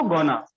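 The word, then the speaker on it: gonna: गोइंग टू को गोना, want to को वाना।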